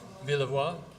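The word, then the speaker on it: Villevoye: This is, of course, Roy, how do we pronounce his name? Villevoix, Roy Villevoix.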